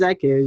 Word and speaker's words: Zaakirah: Yeah, so my name is Zaakirah, you did say it right.